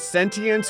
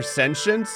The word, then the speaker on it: sentience: I only recently learned there's like a British English and an American English way to pronounce this word it's sentience or sensient I pronounce it both